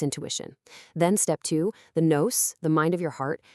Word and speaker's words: nous: The word is nous, spelled n o u s, and pronounced like news.